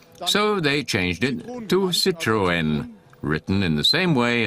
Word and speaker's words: Citroën: The correct pronunciation, since it's a French brand, is Citroën. But there's a story behind this. In Germany, a lot of people say Citroën, which actually isn't wrong.